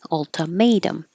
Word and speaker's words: ultimatum: started with ultimatum ultimatum the second t turns to a d ultimatum and then uh I